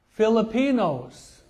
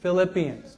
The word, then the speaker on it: Philippians: got a little bit okay the Galatians Ephesians Filipinos did I say that right oh I'm sorry not Filipina but Philippine I I always miss mispronounce it okay okay so it's the Philippians not Filipinos okay Colossians 1 Thessalonians 2 Thessalonians